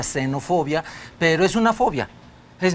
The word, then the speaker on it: xenofobia: como gen o fobia escrita con x se pronuncia xenofobia pero es una fobia